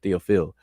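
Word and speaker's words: Théophile: He's pronounced it Theophil, Theophil Obenga, my master teacher.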